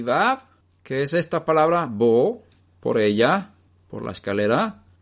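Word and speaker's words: בו: Pero es la traducción de la palabra hebrea bo, que se escribe con 2 letras, bet y vav.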